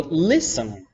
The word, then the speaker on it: listen: like ballet but also much like castle or listen right normally we do say listen with an